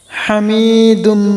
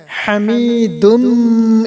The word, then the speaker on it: হামিদুম: আলি ইব্রাহিম ইন্নাকা ইন্নাকা হামিদুম মাজিদ হামিদুম মাজিদ। এটা বড় হা রয়েছে, এখানে বড় হা উচ্চারণ করবেন।